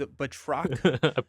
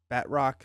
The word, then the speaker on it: Batroc: Is it Batroc, but Batroc? Batroc is the fun way to say it, and Batroc is the correct way to say it.